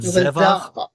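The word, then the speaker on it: זֶבַח: otam mayaw mitzrayim al divrei orlah vazavach Mhm, vazavach. That's the word zevach. That's the word zevach, but in pausal form at the end of the verse.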